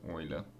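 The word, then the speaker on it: Euler: it's oil's number that e is oil's number pronounced Oiler and um this is for when n is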